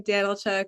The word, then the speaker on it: Danchuk: pronounced my last name danchuk it's a Ukrainian last name big love to my